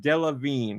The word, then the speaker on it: Delevingne: It's pronounced Delevingne.